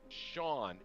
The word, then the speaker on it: Shaun: But he's under the name of Sean, but it's spelled Shaun.